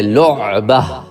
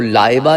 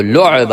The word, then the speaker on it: لعبہ: لعبہ۔ تو تصحیح کر لیں، وہ لائبہ نہیں ہے، وہ لعبہ ہے۔ اب ہو سکتا ہے وہ لاعبہ سے لعبہ سے لاعبہ ہوا اور